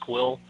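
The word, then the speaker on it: Kuiil: think that I love I'm assuming it's pronounced quill the AG not Nick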